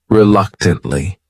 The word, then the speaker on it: reluctantly: next word is reluctantly this word has four syllables and the stress is on that second syllable that third syllable also has that schah relu tantly reluctantly what it means is